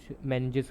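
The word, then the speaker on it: meninges: कुछ लोग इसको मैनिंग्स करते हैं, कुछ मैनिजेस करते हैं, तो दोनों प्रोनाउंसिएशन सही है।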